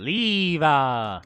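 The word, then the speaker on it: Liebe: Literally, housed within the Five-Leaf Clover Grimoire was Liba, a demon exiled from hell That's for how you say it. Leeva.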